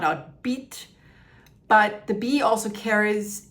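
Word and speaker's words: bity: word for king of Lower Egypt, which is pronounced BT. So here the bee is used logographically to sound out beet, but the bee also carries its meaning as a metaphor for royalty.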